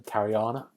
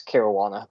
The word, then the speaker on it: Caruana: Cariana. How you doing? I said your name wrong again. It's Caruana.